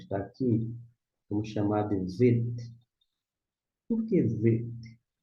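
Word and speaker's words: ב: Se você pronunciar aqui, ó, bater o olho, não tem um pontinho dentro, chamar de VET, VET, a palavra VET aqui, ó, em destaque, VET, começa com que letra?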